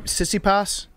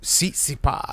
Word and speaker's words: Tsitsipas: Jake, how do you pronounce that guy's name? Tsitsipas? Tsitsipas.